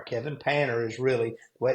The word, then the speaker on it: Panter: painter insurance and that's p n t Kevin painer is really way it's pronounced but we say painter but you know you can go to my